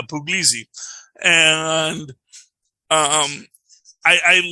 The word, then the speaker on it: Puglisi: uh the plaintiff yeah not puglisi which is the first time I've ever heard it pronounced puglisi I always thought it was pogosi um but it's pugliesy that's how the judge pronounces the judge could be pronounced here wrong everyone calls them pugs but it's yeah but it's uh it's uh puglizzi and um I I